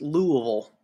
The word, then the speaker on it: Louisville: area let's look at Louisville that's how it's pronounced lool Louisville Louisville or Louisville CBD contains a high concentration